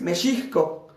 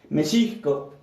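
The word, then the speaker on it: Mexihco: y meiso es México la pronunciación correcta de México es meiso meco Así es la pronunciación correcta del país meiso Entonces ellos viven su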